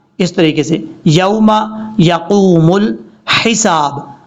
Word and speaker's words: الحساب: اب یہاں پر کیا لوگ غلطی کرتے ہیں؟ جلدی میں وہ پڑھ دیتے ہیں یوم یقوم الحساب. حساب نہیں پڑھنا. یہ دیکھیں لام کے بعد جو ہا ہے یہ ہا بریک ہے، اس کو بھاری ساؤنڈ کے ساتھ نہیں پڑھنا، کلیئر کر کے پڑھنا ہے.